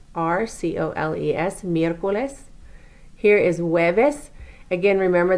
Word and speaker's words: miércoles: Wednesday is miércoles, M-I-E with the accent, R-C-O-L-E-S, miércoles.